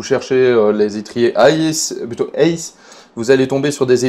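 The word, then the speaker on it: Hays: Ça viendrait de euh la société ACE qui s'écrit H A Y S qui est une société américaine qui produit donc des étriers de frein.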